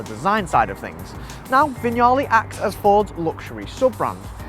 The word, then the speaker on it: Vignale: You’ll probably easily recognise this car as the Ford Mondeo – but what may stump you is this word here – ‘VIG’ ‘NALE’ or, “Vignale” as it’s actually pronounced.